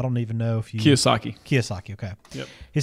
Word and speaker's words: Kiyosaki: Is that how you pronounce it? I don't even know if you... Kiyosaki.